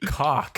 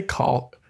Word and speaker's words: caulk: Why eat cock? Why eat caulk? I love the way you say caulk. Is it cock or caulk? It's spelled caulk. So like you say caulk, which like sounds gross.